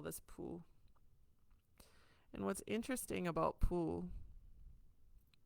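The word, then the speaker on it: pū: for a conch shell, but we call this pu. And so it's spelled Pu.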